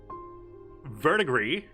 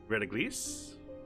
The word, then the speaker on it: verdigris: Verdigris, vinegar, wax. Did I pronounce that right? I'm assuming that S is silent, but I could be very wrong. Verdigris.